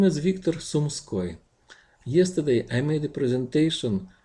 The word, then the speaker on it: Sumskoy: This is not Suskoi, not Sumoski.